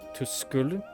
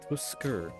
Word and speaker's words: トゥスクル: To school? トゥスクルさんとお呼び。トゥスクルさんですか？ To skur. It's not like cur, it's like a different syllable sound.